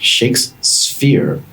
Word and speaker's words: ShakeSphere: and the founder at shakes sphere which is just made hard for me to pronounce i almost said shakespeare but i guess that's on purpose dave how are you